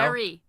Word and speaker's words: Barre: No, you said Barry. Barry. Oh, we got 3 already. Oh, Linda no. says Barry. Wilkes-Barre. No? Berry. Wilkes-Barre. Like the fruit.